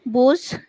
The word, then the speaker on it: Buch: Sie hat ein Buch gelesen. এটা হচ্ছে বুখ, খ উচ্চারণ হবে বুখ, Buch.